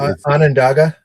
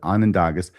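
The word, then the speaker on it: Onondaga: Would you pronounce this? It's Anandaga or Anandagas is Anandog and for the people. Okay. So, I'll try and pronounce it correctly. Anandagas.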